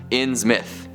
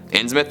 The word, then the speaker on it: Innsmouth: Little V says, Innsmouth is pronounced Innsmouth with a short M. Innsmouth it is.